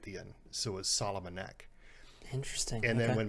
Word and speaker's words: Salamun: we got uh solomon today so i said it correct right that's right because it's spelled differently it's spelled differently uh s-a-l-a-m-u-n but it sounds like solomon so like king solomon but not quite as